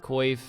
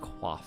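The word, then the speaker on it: coif: studded bodies, studded chaps, quif or it's actually pronounced qua, but you know, nobody says that in the runescape scene, let's be honest.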